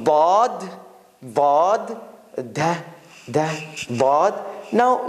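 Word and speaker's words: ض: There are two ways Arabs pronounce bod. One is your tongue hits the right side of the edge between your front teeth and your molars. So it's like in that corner.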